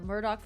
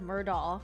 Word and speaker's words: Murdaugh: who know about the Murdoch family Legacy are the people that like pronounce the name Alec instead of Alex and Murdoch instead of murdahl because uh when the